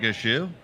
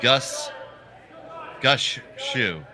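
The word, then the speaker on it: Gushue: Yep, it will be absolutely the winner playing Brad Gushu. I read a thing in the curling news that apparently for all these years we've been mispronouncing his name. It's actually like Gush Shu.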